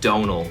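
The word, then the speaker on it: Domhnall: But it's Donal is how I pronounce my name, which is like tonal but with a D instead of a T, and the M is just there to confuse Americans.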